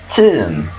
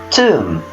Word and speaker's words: tomb: This is a tomb. Okay, so tomb. We don't say tomb. Tomb. Okay, so letter B here is silent.